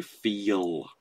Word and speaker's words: feel: So on the word feel, the L sound that you're hearing there is just a dark L. It isn't a syllable onto itself. So feel, because you couldn't go